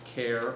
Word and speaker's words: CAIR: He and his design team have recently started working on a very interesting project, CAIR, pronounced CARE, of course.